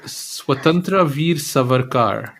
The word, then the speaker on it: Swatantra Veer Savarkar: then there's one that I how do I pronounce so swatantra Veer savarkar oh my God I am absolutely shocked at